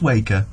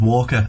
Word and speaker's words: Waker: Oh, in fact, no, that is Waker. Yeah. I thought it was Walker at a glance.